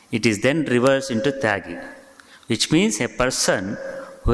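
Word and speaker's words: त्यागी: See, in Bengali pronunciation, Tyagi means Tagi.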